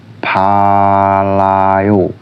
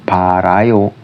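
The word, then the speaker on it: 빨라요: bunyi menjadi ya misal palayo Bukan parayo tapi palayo palayo yang artinya cepat P Terus yang contoh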